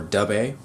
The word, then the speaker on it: Dubhe: Factory their ifex 31 dub or du not really not really sure on how to pronounce that the translation or pronunciation that I looked up was du so that's what I'm going to go ahead and go with this is of course